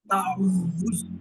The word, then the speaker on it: تعوذ: اصل میں اس تعوذ. کا تلفظ جو ہے وہ صحیح کرنے کے لیے اس لفظ کو میں دہرا رہا ہوں، آپ پھر دہرائیے تعوذ.